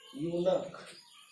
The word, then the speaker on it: eunuch: लिखते हैं इधर EUNUCH, यूनक, इसका उच्चारण होगा यूनक।